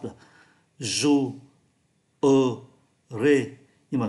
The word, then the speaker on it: jouerai: là 3 syllabes là jouerai, nhưng mà người ta không phát âm syllabe ở giữa bởi